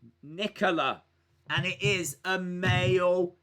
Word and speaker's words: Nicola: right nicholas says guys in italy the name nicola is pronounced nicola and it is a